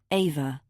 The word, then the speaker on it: Eva: She pronounced Eva's name the German way. Ava.